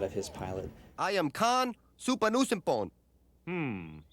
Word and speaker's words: Khan: his pilot i am khan supanusynphone hmm so that's pronounced khan right as the show went